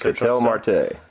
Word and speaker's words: Ketel Marte: Ketel Marte.